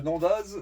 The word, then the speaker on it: Nendaz: Eh bien écoutez, on revient de Nandaz. Donc non, c'est pas Nandaz, c'est Nanda. Ouais. Nanda. Oui. Nanda. On Prononce dit pas pas le le Z, Z. c'est comme Chamonix, on dit pas le X.